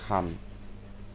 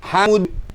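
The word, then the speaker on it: الحمد: Makanya kalau kita takbiran itu jangan sampai walillahil ham. Ya, ham itu artinya apa? Jamban, WC, burung merpati, panas. Kamu bukannya memuliakan Allah malah menghina Allah. Kalau bacanya salah, ya. Walillahil hamd, dalnya jangan hilang.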